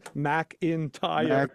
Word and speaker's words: McIntyre: On here, it's written MAC-IN-TIRE, McIntyre. McIntyre.